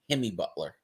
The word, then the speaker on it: Jimmy Butler: I got to correct you for a second. You pronounce his name wrong. He is Jimmy Butler.